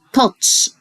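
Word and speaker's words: touch: ينطق لسن يلمس يعني تاتش تاتش مش هنطق الاو برض على طول اه تاتش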